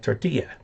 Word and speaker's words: tortilla: Mexican Spanish, the double L is ya, like tortilla. But the Spanish pronunciation from Spain, the ly is ly. I mean, the ll is ly. Tortilla. Something like that.